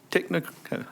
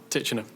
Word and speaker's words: Titchener: next is um technica i'll let you pronounce that that one uh the mark executive director and mr bullins i believe y'all are next on the agenda thank you yes sir it's titchener so almost there thank